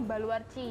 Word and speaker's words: Baluarte: Jadi dari kata Portugis gitu, Baluarci gitu. Baluarci. Iya, Baluarci. Tulisannya sih Baluarte ya. Oh, tapi bacanya Baluarci.